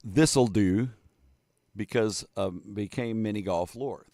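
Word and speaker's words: Thistle Dhu: Its name pronounced Thistledew because became mini golf lore. Thistledew.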